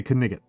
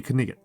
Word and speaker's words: knight: some characters will say Kiganot. That's actually an accurate pronunciation, right? That's that's a historical pronunciation. Ki Knight used to be Kigot. you used to pronounce the G and the H and the K.